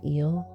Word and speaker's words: e@l: That's e at symbol l health and wellness app pronounced eel like the ocean creature for sematic tools, breath work, movement sessions, and nervous system nourishment.